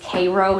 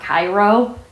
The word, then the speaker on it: Cairo: Let's just say there's a southern town that's named Cairo, not Cairo.